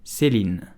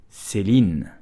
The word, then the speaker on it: Céline: So how do you pronounce Céline? You will just say Céline, Céline, Céline, Céline.